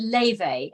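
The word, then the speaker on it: Laufey: now she's called now I think you pronounce it Levy and it's l-a-u-f-e-y she's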